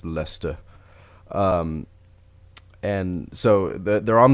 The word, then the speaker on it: Leicester: Square and Waterloo stations it's spelled like like Esther but when you're British I think it's lista and so that they're